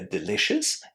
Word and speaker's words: delicious: in that group where delicious and conscious, both are spelled with io, o u s at the end, but we don't pronounce them with the full yes.